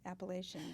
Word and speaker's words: Appalachian: say Appalachian because everybody here says Appalachian, but they say it's Appalachian. Oh, wow. Okay. They know best. So, so I'm just pronouncing it the way they do.